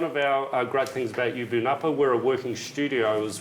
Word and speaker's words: Yubu Napa: i just want to check how do you pronounce the name of the gallery again ubunappa give ubunapa gallery it's got a double meaning it means